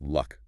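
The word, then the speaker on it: 六: And in Cantonese, the number 6 is pronounced luck.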